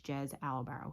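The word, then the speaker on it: Jez Alborough: I had to look it up because I forgot how to pronounce it. So his name is Jez Albaro.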